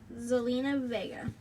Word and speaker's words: Zelina Vega: For the SmackDown Women's Champion, Rhea Ripley versus Zelina Vega. You pronounced it right if you were wondering.